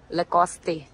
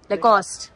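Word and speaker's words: Lacoste: लकोस्टे। मैं इस right लकोस्टे, लकोस्ट नॉट लकोस्टे।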